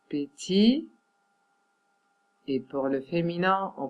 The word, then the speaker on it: petite: Pour les féminins de ces noms ou de ces adjectifs, les T, il faut le prononcer.